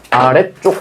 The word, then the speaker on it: 아래쪽: 아래쪽은 그냥 쓸 때부터 뭐였어? 지이 아니라 원래 뭐였어요? 쌍지이었지. 맞니? 그래서 얘는 원래부터 쓸 때부터 쌍지이었기 때문에 뒤에 쪽이라고 발음을 해도 얘도 역시 된 소리 대기가 아니야.